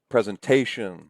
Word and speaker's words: presentation: So presentation, the stress syllable is here. Presentation. We don't say presentation. We don't say presentation, right?